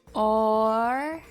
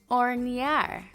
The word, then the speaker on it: hornear: The H is silent, so we'll skip it. Hornear. Hornear.